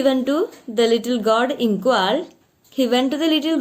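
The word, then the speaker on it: Nqong: The spelling is Nqa, but it is pronounced like Ingwar.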